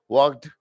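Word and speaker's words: walked: एल D should would इनमें सब में एल मत लगाना क्योंकि तुम एल लगाते हो और तुम पहले भी मैं आपको समझाया ये चीज क्योंकि इनमें नहीं लगता है एल साइलेंट है वॉक्ड टॉक्ड ना ठीक है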